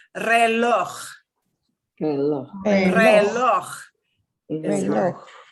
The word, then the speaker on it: reloj: This is kind of like the ch you get like in the Scottish word Loch Ness. Think of it, if a true person pronounces Loch Ness properly, it's Lach.